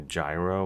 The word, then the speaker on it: gyro: talk about getting a gyro, which is even mispronounced, I realize, like, but it's sort of the Cleveland pronunciation of euro.